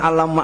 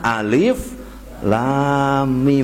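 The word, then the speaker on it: الم: macamnya seorang anak sebenernya bukan alamak alamak harusnya alif.lam.mim yang belum belajar Quran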